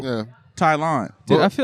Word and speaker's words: Tylon: Tylon, I love you, bro. What's the in his purpose? Bro, really? How you pronounce your name again?